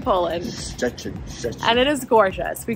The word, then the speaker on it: Szczecin: Good morning from Szczecin, Poland. I think we took about 5 minutes to figure out how to pronounce this word. I don't think it's still pronouncing it correctly. It's spelled crazy. Szczecin, Poland.